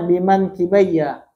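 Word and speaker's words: بِمَنْكِبَيَّ: Nah, ini bacanya biman kibaya. Dua pundakku.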